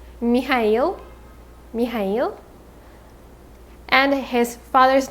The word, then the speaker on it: Mikhail: name is berlioz berlioz his first name is mikhail not michael mikhail mikhail and his father's